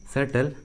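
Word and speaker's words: subtle: देखिए English word में बी का आवाज़ नहीं आ रहा है, डेट, सेटल, सेटलनेस।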